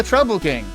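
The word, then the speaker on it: Troupple King: All hail the Trouble King. Oh, you've never heard of the Trouble King? Half trout and half apple. Pronounced like mouthful.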